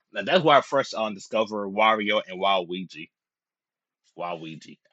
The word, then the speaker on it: Waluigi: Waluigi. Yeah, that's how you pronounce it.